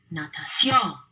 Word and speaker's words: natación: They should be stressed on the second to last syllable, but they're not. We stress them elsewhere, so we have to write in the accent mark.